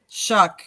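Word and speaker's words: Shough: I think it was Shuck, because I think I saw the pronunciation. It was like Shuck. right? It's SHUCK is how it's.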